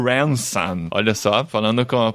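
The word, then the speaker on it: Ransom: e tal e utilizou esse nosso personagem o ransan Olha Só falando com a pronúncia correta aqui tentando pelo menos o Hanson o Hanson isso que aparece aqui nessa história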